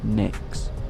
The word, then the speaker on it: Nyx: I was thinking of calling the dog Nyx. So spell M-Y-X. But pronounced N-I-C-K.